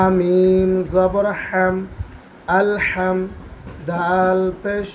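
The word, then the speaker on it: الحمد: হা মিম জবর হাম আল হাম দাল পেশ দ আলহামদু আলহামদু এই শব্দের মধ্যে যে হাটা আছে অবশ্যই এই হা উচ্চারণ করতে হবে নচেৎ শব্দের অর্থ পরিবর্তন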